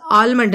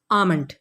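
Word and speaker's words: almond: आलमंड, क्योंकि spelling में एल है लेकिन ये एल तो साइलेंट है, तो असल में लफ्ज़ आलमंड नहीं है बल्कि है आमंड।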